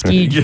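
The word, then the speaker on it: Skjei: I mentioned Brady Shea, and DHB on YouTube said it's pronounced Skeege, Mayor. Come on, Mayor. It's Skeege now.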